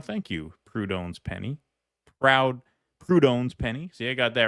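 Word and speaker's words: Proudhon: Katon, it is pronounced Prudon, not Proud Hun.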